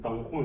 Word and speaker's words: Don Juan: It's DONJUAN , but it's not pronounced "dang zhuan " (dang huan). It's pronounced "dang huan " (dang huan). That's because we use the Spanish "j" to pronounce the "h" sound .